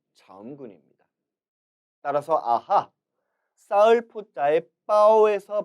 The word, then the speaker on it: 包: 두 단어의 발음은 다음과 같습니다. 발족자 따라 읽어보시죠. 주, 주. 그리고 쌓을 포자, 빠오, 빠오.